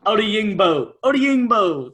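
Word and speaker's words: Odeyingbo: Odiyingbo.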